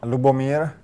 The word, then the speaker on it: Lubomir: We're joined by, now, let's get the pronunciation of this right. Lubomir? Lubomir.